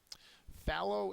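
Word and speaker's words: fallow: your test um uh the first syllable is accented and I'll go through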